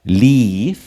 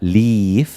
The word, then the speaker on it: leave: Leave, se pronuncia de forma larga, leave, salir, dejar, partir, abandonar, porque leave, de forma corta, leave, es el verbo vivir que ustedes conocen.